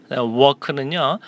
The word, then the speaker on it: work: Work는요, W-O-R-K잖아요. 그래서 W-A-L-K, work, work. 이렇게 L 발음을 내시는 것과 work, O-R 발음을 내시는 게 중요합니다. 그래서 work, R을 삽입해 넣으시면 되겠습니다. 발음하실 때.